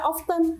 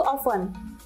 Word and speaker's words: often: often ya ostn Nah kita jangan baca often yang bener itu Alfan dia silent tv-nya tidak dibaca jadi disitu ada nilai